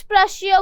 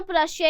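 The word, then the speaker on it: Prussia: की बजाय कुछ जगह ना प्रशिया इज प्रशा। अगर तुम लोग गूगल बाबा के पास जाओगे, ट्रांसलेट करके देखोगे, प्रोनाउंसिएशन चेक करोगे, तो प्रशिया को ना प्रशा लिखा गया है, बट I stick to प्रशिया, easy भी लगता है ना। तो प्रशा इसकी ब्रिटिश और अमेरिकन एक्सेंट में है, बट हम लोग प्रशिया बोल रहे हैं, तो ये मत बोलने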